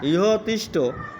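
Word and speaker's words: ইহ তিষ্ঠ: অবস্থান করেন পরেরটা স্যার যদি কেউ বলে যে ইয়া তুষ্ট না ইয়া তুষ্ট বলে ইয়া হয় মানে ইহ মানে সঠিক হচ্ছে মানে ভেঙে উচ্চারণ হচ্ছে ইহ আগস্য ইহ আগস্য ইহ তিষ্ট ইহ তিষ্ট ইহ অধিষ্ঠান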